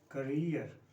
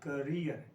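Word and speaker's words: career: So next word is करियर। ये भी commonly wrong pronounce किया जाता है, तो the right way इज करियर, कैरियर नहीं।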